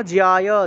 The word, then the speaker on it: জ্যায়: কর্ম, কর্ম জ্যায়, জয়ের সাথে জফলা থাকায় জিও উচ্চারণ হবে, কর্ম জ্যায় হিয়া কর্মণঃ, এর সাথে জফলা থাকায় হিয় উচ্চারণ, হিয়া কর্মণঃ, বিসর্গ থাকায় হ।